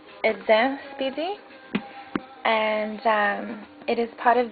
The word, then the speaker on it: Eden Speedy: It is the EDEN SPEEDY, correctly pronounced EDEN SPEEDY, and it is part of the limited edition